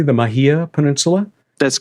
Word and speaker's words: Mahia: thanks to your complex on the Am I pronouncing it correctly, the Mahia Peninsula?